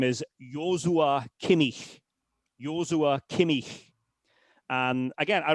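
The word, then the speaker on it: Joshua Kimmich: it's an approximation but if you want to say it properly then it's Yua Kinik um Yua as a first name that again was his mother's idea there are various pronunciations of the name of course in English it would be Joshua but again he's not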